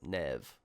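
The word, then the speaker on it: Neve: so also we've learned the companion's name is Nev that's how we pronounce it Nev at least I'm assuming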